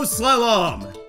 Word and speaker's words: slalom: Blizzard Snow Slalom. Oh, it's actually pronounced slalom, apparently, and it is a ski race down a winding course marked by flags or poles.